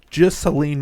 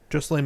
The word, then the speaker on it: Ghislaine: Well, it's probably something easy to say that's spelled weird. Here Maxwell. Yeah, it's like Ghislaine Maxwell. Yeah, that's it. Ghislaine Maxwell, who was arrested by the FBI.